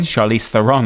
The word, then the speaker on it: Charlize Theron: Charlie Theon. Chariss Theon, I believe, is the correct pronunciation.